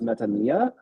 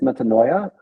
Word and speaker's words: metanoia: I suspect that the pronunciation of the second word is metanoia, because it's in Greek it's metanoia, and then that, like in spoken Greek, the oi sound becomes just an e sound, and then you see